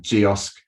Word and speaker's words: geosk: brand recruitment content cal and geosk which rhymes with kiosk um so yeah if